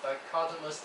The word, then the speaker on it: dichotomous: yeah by the way is pronounces dichotomous is not like chocolate okay color Muslim business